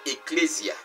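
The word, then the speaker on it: ἐκκλησία: en parlant de l'église l'église vient d' mot grec dans la prononciation est eclésia qui veut dire tout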